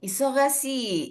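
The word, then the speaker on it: 忙しい: Ini Si isokashi. oke, isogashi. Oke, segi.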